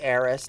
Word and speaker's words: Aerith: Also, it's not Aerith, it's Eris.